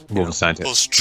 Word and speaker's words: Wolfenstein: Wolfenstein. Well, yeah, that's how you say it in like sort of with the German intonation.